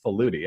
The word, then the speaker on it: Faludi: woman's name is Susan Faludi I think is how you say that FAL UDI and here is her